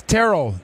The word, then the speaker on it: Terrell: get a little confused you want me to call you Terrell or Terrell it's Terrell Terrell oh my mom would